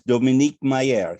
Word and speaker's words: Dominique Meyer: met today's guest and i'm going to use the french pronunciation and if you tell me to do otherwise i shall is dominique mayer he is currently the